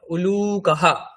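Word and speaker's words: উলূকঃ: গৃদ্রহ vulture তারপরে আউল প্যাচা তার সংস্কৃত কি উলুকাহা উলুকাহা হসকার লয় দীর্ঘ ক বিসর্গ উলুকাহা মানে প্যাচা তারপরে হেরিকেন ল্যাম্প গ্রামের দিকে যেখানে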